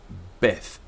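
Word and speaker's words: בּ: middle it's veth um and with a DOT Beth so withth Beth the the next letter in ancient times there were two pronunciations for it there was Jim and gimmel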